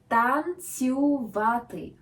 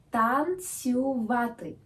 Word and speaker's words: танцювати: Танцювати. Танцювати. Feel free to repeat. Танцювати. One more time. Танцювати. Great. The accent is on A.